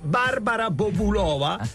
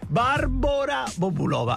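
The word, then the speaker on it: Barbora Bobulová: barbora con la Ecco sappiate che il nome di Barbara quella che noi tutti abbiamo chiamato sempre Barbara Bobulova è barbora Bobulova ed effettivamente lei ci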